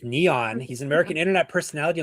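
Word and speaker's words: N3on: His pronounced nickname pronounced Neon.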